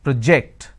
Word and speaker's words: project: please submit the project so when i say project that becomes a noun when i say project that becomes a verb so when you're shifting it and there is a change in terms of the vowel sound as well when i say project i'm using per and o project when i say project i'm using per o so when i have